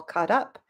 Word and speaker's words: caught up: you if you notice we link these two words we say it like I'm all caught up but because of the